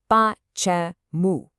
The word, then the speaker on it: Почему: So the word for why has 3 syllables, with the stress right at the very end. Listen carefully. Почему.